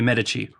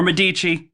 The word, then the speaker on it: Medici: have some sort of obsession with Catherine de' Medici. Or Medici, depending on how you say it.